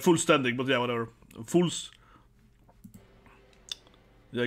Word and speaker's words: Vollständig: own Bankai version right full standing as it pronounced full standing yeah full standig a bit f f sound full standing kind like fun you know v o n Fun you know now it's